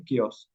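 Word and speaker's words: chaos: anarchy का है केस सी एच ए ओ एस इसको प्रोनाउंस करते हैं केस एंटोनियम यानी कि एक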